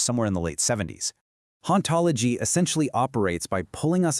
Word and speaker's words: hauntology: is a concept called hauntology. The philosopher Jacques Derrida coined the term back in 1993, and it's actually a pretty clever pun. See, in French, the silent H makes it sound exactly like ontology, which is the philosophical study of being.